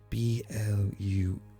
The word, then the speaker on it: Blue: B-L-U-E. Bluey. Bluey? Bluey. So Bluey's right. Is it pronounced Bluey or? Unfortunately, no. It's pronounced blue.